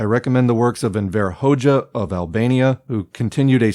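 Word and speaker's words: Hoxha: As a final note, though, if you are looking for something a bit more upto-date, I recommend the works of Envir Hoja of Albania, who continued a strong anti-revisionist trend into the later 20th century.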